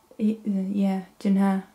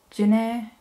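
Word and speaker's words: Ju-ne: I do not have Juna. According to Hangul, that's how it's pronounced, but Juna works too, right?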